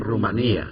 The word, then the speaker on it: Rumanía: las elecciones presidenciales en aquí dice rumania pero la verdad que a mí el profesor Olegario y la profesora Priscila desde primaria me enseñaron a pronunciar Rumanía as pero no sé